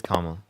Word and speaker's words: Kamala: away from, I don't want to say her name wrong, Kamala. Is it Yeah, Kamala or it's Cam? it's Kamala.